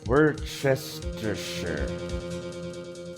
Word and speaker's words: Worcestershire: swig watches to shots Worcestershire sauce Worcestershire shot wait we're Chester sure that's how that's it it's been a